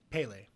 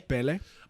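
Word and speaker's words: Pelé: Pele.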